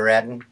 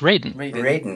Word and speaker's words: Radin: thank you hi dr raden hello thanks for that introduction and by the way my name is pronounced raiden okay good get that